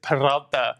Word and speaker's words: Peralta: David Roll that Peralta. R. Let's hear it. David Peralta. It's Peralta.